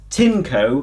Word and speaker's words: Tineco: I'm going to pronounce this brand that I hadn't really heard of as Tineco, because that is how the manufacturers themselves pronounce it on their videos. You say potato, I say potato. I'm saying Tineco.